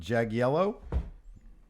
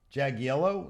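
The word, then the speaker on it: Jagiello: Jag yellow. Jag yellow. Is it Jag yellow? Sounds like I'm saying Jag yellow. Like a yellow Jaguar car.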